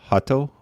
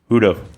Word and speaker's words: Huto: So, uh, anyone that hasn't heard of, um, heard of Hatto, Hutto, Hudo, Hudo.